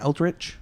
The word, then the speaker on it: Eldritch: our set review for ultrich moon is how you say that altrich that is correct yeah we're doing our